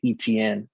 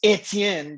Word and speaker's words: Etienne: or as the people who don't know how to pronounce his name they say etn that's wrong um anyway travis etienne the haitian out of